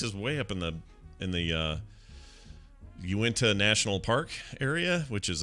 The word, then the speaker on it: Uinta: No, it's definitely Uinta. Well, at least Uinta.